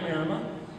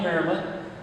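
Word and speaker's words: Maremma: That breed you're looking at there is a one half marma. M A R E M A is how you pronounce it or spell it. M A R E M M A one half Mara a quarter in atone shepherd and a quarter pyramid.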